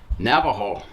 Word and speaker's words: Navajo: it the Spanish spelling the Spanish pronunciation and today it is said as Navajo and so that's where